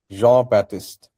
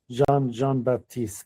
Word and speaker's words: Jean-Baptiste: Today I learned the French pronunciation of Jean-Baptiste.